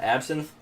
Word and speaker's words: absinthe: the horn but yeah absinthe but it's spelled with a y so it's like synth like music synth wave and then the